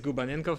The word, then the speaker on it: Gubanenkov: yeah my name is my surname is GU benign cough I know it's hard to pronounce so I've been in gaming industry for